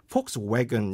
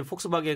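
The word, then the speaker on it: Volkswagen: 좀 되는 거 같고 이렇게 들어보면 폭스웨건 약간 약간 예 약간 뒤쪽이 왜건 그래서 막 너무 좀 세진 않은 약간 그런 형태로 발음이 좀 되고 있습니다 아 그리고 뭐 제가 보기에 이제 폭스바겐 같은 경우는 이게 독일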